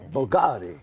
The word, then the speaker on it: BVLGARI: I want the BVLGARI.